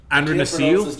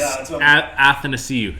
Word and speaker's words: Athanasiou: Andre Nasiu? Yeah, I was just saying, I can't pronounce his name, but that's Andreas Athanasiou.